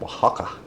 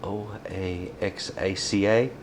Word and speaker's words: Oaxaca: If you want to use a Mexican cheese, like Oaxaca, use that. By the way, that is spelled o a x uh I'll see, o a x a c a, I believe.